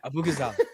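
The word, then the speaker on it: Abughazaleh: Abu Ghazaleh. I made a pronunciation mistake. I was supporting the other candidate. Yeah, Abu Ghazaleh.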